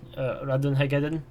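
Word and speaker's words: Ratonhnhaké:ton: Fishy, how to pronounce Connor's real name? Radun Hagaden. Is it Radun Hagaden? Radun Hagaden.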